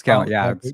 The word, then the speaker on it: Kalen: It's spelled like It's spelled Kalen, different. It's Kalen. Yeah, Colin with a K. You threw me with the Colin. Colin. KHALN. ALN. He pronounces it Kalen.